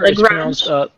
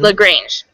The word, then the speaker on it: LaGrange: How do you pronounce that? Sure, LaGrange. Mm-hmm. LaGrange, okay.